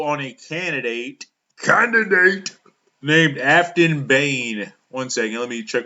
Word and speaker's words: Behn: I pronounced it Ben in my video. I was wrong. It's Behn.